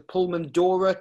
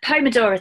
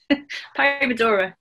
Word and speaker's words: Pomodoro: the, is it the Pulmandora technique or repeat Pulmandora technique? Yeah, the Pomodoro technique. Ah. So it's a P-O-M-O, Pomodora. Pomodoro. It's spelt completely different to how you would expect it to be.